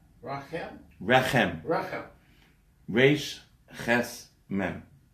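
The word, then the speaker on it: רחם: Rechem. Rachem?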